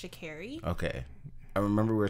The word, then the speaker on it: Sha'Carri: I called her Sha'carri, but I think it's actually pronounced Sha'carri.